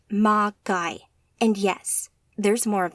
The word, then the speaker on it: Magi: of them Kronos they call themselves Magi pronounced ma guy and yes there's more